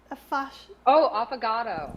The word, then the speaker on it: affogato: Affogato.